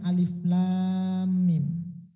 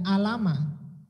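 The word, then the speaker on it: الم: Di dalam tajwid kita sudah membahas apa ini namanya alif lam mim. Yang pertama yaitu bisa disebutkan dengan huruf muqatta'at. Apa itu huruf muqatta'at? Yaitu huruf-huruf yang ketika membacanya dipotong-potong. Alif lam mim. Tidak alama.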